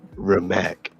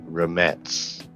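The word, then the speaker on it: Rimac: mate and then mate yeah mate and then remac basically r i m a c remac okay okay I see but but it's pronounced like remets because it's oh is this uh this a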